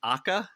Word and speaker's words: AKA: ahead I guess it's pronounced akka it's spelled AKA AKA came out December 14th